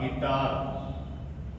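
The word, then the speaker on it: guitar: कोई भी यहां आए तो यू हमारा जो है वो साइलेंट रहेगा जैसे जी यू ए आर डी गार्ड जी यू आई डी ए आर गिटार तो देखिए आप जी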